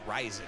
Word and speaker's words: Ryzen: adrex with the ryzen andy ryzen bugatti i still it still makes me feel weird when i say rising i know that's the that's the proper pronunciation but uh i don't